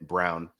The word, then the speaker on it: Braun: Yeah, that's what that's what everybody thought when they first read it, and then it's like, no, it's pronounced Brown.